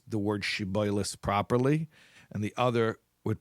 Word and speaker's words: shibboleth: They would pronounce the shin, that's the Hebrew letter phoneme, as a sin. So sh would become so they'd say siboilis instead of shiboilis.